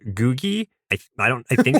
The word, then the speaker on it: Googie: the Jetsons is called googy. I I don't I think that's how it's pronounced. It's It's just go o g i e. It's Google with an i instead of an l.